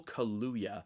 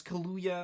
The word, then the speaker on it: Kaluuya: i was gonna guess kaluya yeah it's like a mix of kahlua and hallelujah you know yeah and